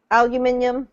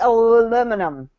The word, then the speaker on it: aluminium: no tomato B herbs aluminium do you see any of these words what the the movie that you see aluminum aluminum aluminium and that's how you say it in Europe yeah aluminum that doesn't